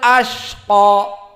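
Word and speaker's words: الأشقى: Maka di sini dibaca dengan rokhawah berarti butuh waktu. Illal ashqa. Maka butuh waktu di saat dibacanya ashqa. Tidak boleh cepat, maka kalau dibaca cepat salah. Illal ashqa. Illal ashqa. Maka ini kesalahan. Yang benar dibaca rokhawah illal ashqa.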